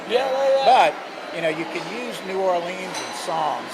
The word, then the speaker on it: New Orleans: that talks about, well, how do you say New Orleans?